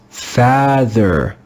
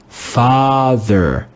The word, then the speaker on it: father: We could read this word as father, father, father. But there's no English word father. This is the English word father, father. The letter A is read with the first sound of the English letter A. Ah, father, father.